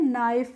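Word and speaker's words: knife: rule देखना है कि किसी भी वर्ड में जब के के बाद एन आ जाता है तो वहां पर हम क्या करते हैं एन का के का प्रोनाउंस एशन नहीं करते इसीलिए हम इसको नोट नहीं पढ़ते इसको क्या पढ़ते हैं नोट ऐसे ही के एन आई एफ ई होती है उसको हम क्या पढ़ते हैं नाइफ पढ़ते हैं नाइफ नहीं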